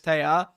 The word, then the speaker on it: Taya: And then one day she called in the stream, like because I called her Tay. She's like, actually, it's Taya.